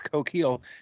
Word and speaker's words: coquille: you know but i i specifically know how that word is pronounced it's coquille and then i don't